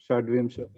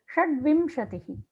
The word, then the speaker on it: षड्विंशतिः: Shadvimshatihi. How to pronounce? Shadvimshatihi.